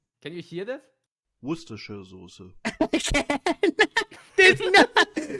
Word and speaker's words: Worcestershire: Abby just said she doesn't even know how to pronounce Worcestershire. Does anybody know I do. Worcestershire.